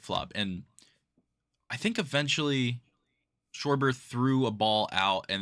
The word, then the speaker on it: Schwarber: And the whole game, Schwarber, and he would pronounce it wrong. He said Sharber. Hey, Kyle Schwarber. Give the kid a ball, Kyle Schwarber, make his day. it was Sharber and also Swarber.